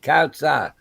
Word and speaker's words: Kautsa: Hey, Native Kautsa says, I am one of the few that do say her name correctly. So, yes, it is Native Kautsa. That is how you say it.